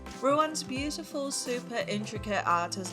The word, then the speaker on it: Ruan: Fun fact, I found that the name Ruan actually also exists in South Africa and Brazil, but the Chinese pronunciation of it is Ruan.